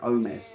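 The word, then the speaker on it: Ohmes: you pronounce the infamous homes infamous homeless infamous infamous don't pronounce the age and then just say oh mess or like oh mess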